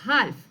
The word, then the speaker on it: half: ash, no نقولوا وش نقولوا half. a, no so كاين قاعدة وش تقول؟ تقول letter L. اوكي ايش في عليها؟ letter L is usually not pronounced.